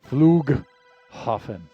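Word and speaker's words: Flughafen: I know that gh makes a H sound, but it's probably a little more guttural than that. Yeah. Other other good airports here. Flug huffen. Okay. Hard G. Got it. Yeah. So the G and H are separate.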